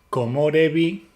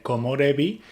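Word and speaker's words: 木漏れ日: Es una palabra antigua, de hecho la pronunciación de árbol como ko dentro de komorebi es una utilización arcaica.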